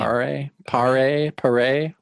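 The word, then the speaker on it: Paré: Pare.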